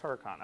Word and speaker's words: Hurakan: let's go with Huracan there's no e on the end it's Huracan okay let's open this